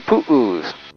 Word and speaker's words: pu'u: In Hawaii, we call them pu'us, which is spelled P-U'-U.